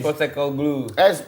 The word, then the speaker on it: Postecoglou: Bacanya Ainge. Postecoglou.